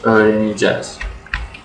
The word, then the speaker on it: öğreneceğiz: Because we don't have an ecek, but it's a soft G there. So I pronounce it as biz öğreneceğiz. Okay. So biz öğreneceğiz without the soft G or E.